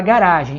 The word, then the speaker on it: garage: E já no inglês britânico, inglês da Inglaterra, você vai dar a sílaba tônica no final. Quer dizer, se você quiser falar garagem em inglês americano, vai ser garage, tá?